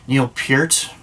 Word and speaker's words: Neil Peart: icon, goddamn, I'm going to say his damn name wrong. Neil Peart.